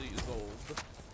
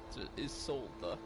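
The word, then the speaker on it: Isolda: turn in that mission to is old or is solda sorry I keep saying her name wrong is solda got this a potion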